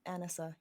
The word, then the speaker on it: Anisa: say your name ma'am yes um it is Anisa yes oh I'm I'm really sorry